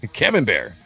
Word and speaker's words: Camembert: You say the R, it's the T that is silent. Often the final letter is silent.